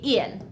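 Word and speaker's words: ils: Yes, I know that there's an s after il, but we still just say ill.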